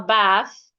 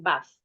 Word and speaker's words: bath: start with the pronunciation you can have it as a long sound for British ba as a short sound for American bath now according to the